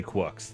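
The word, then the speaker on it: GQuuuuuuX: How do they say? Is it GUX? Yeah, they say Quucks.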